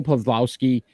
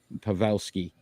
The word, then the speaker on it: Pavelski: Joe Pavlowski, plus 31. So again, don't make fun of my pronunciation there. Pavelski.